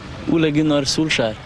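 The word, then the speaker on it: Solskjær: The first question I'd like to ask you is so how do you pronounce your name? Sulchar.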